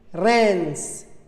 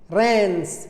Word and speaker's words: Reims: AIM, fin, EIN, peintre, EIM, Reims, Reims, c'est une ville française.